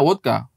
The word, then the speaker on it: vodka: kayak putih begini juga bukan Vodka seben bacanya wodka Wih dia tahu betulan